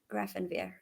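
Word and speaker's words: Grafenwöhr: Grafenwehr.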